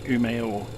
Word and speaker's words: Umeå: new is the destination so just um for pronunciation purposes so we're flying from Scandinavian mountains to UMO it's not um it's UMO I know because I looked it up I'm